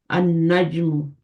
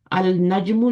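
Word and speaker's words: النَّجْمُ: अनल नजमु अल नजमु नहीं पढ़ेंगे गलत हो जाएगा। अल नजमु जो होगा वो बिकम्स अनज अरजुल अदी असमा इसको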